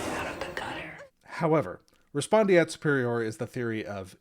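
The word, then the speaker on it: respondeat: they call respondent superior, which is not the actual term, the correct term, it's Latin. It's respondiat superior. I've heard it said respondit superior, but I don't think that's proper Latin pronunciation.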